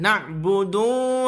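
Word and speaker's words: نعبد: Nah, budu kebanyakan mereka apa? Dipanjangkan. Na'budu wa iya. Enggak boleh ya.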